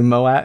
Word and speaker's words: Moab: you took your van to Moab. How do you pronounce that? Moab.